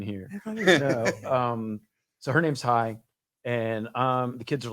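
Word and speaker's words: Hanh: not maybe hi hi it was spelled h-a-n-h but it's pronounced hi which is vietnamese and anyway i kind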